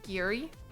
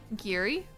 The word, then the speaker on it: Gary: If it's Gary, Indiana, it's actually pronounced Giri. Giri.